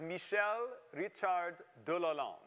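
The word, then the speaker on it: Michel-Richard de Lalande: name is actually pronounced michel richard de la land that's how you would say that in uh in french so if you want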